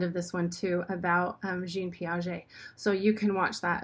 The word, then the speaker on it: Jean Piaget: one number eight is jean piaget is how you say that because it's french so jean piaget we